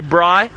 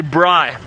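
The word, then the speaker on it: braai: some of you might ask what is a Bry so it's spelt BR double a I and that is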